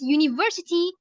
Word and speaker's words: university: learning phonetics, I discovered that it's because university is pronounced with the consonant Y at the beginning, although it is spelled U with a U.